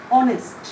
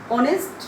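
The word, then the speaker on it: honest: suppose আমরা যদি বলি অনেস্ট, অনেস্ট এখানে এইচ এর উচ্চারণ সাইলেন্ট, তাহলে এমন একটি শব্দ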